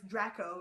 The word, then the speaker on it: Draco: Speaking of Draconis, Draco, but it's Draco in classical Latin pronunciation.